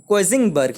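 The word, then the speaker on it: Königsberg: तो इसे इसे जर्मन में कोइजनबर्ग बोला जाता था, जिसे जिसे प्रोनाउंस किया जाता है कोइजिंगबर्ग ही जर्मन में, लेकिन इसका नाम चेंज कर दिया गया और रशियन सब एक अलग नाम रख दिया, जैसे कालिनिनग्राड।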